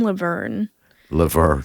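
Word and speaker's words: LaVergne: you pronounce it m say it again Malcolm lever lever lever lever you pronounce it as it doesn't look like l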